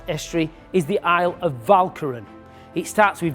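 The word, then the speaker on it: Walcheren: of the Shelt EST is the aisle of valkin it starts with v uh W but it's pronounced V V for valkin the Germans have put a 100,000 soldiers on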